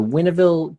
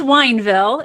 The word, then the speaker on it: Wineville: It's the Winneville chicken coop murders. Winneville? It's Wineville.